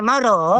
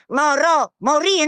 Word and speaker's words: morì: E allora consorti, quando vedete che la moglie morò, Morì, la moglie morì. ma che sta? E anche sto pianto. E là, morì no, perché sto qua. Si dice morì, Morò, morì.